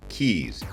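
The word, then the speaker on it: cayes: C A ye s but they're pronounced keys and there's around 450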